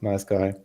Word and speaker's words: NiceGUI: it that explicit that it should be pronounced nice guy. Uh but we are fine with nice as well.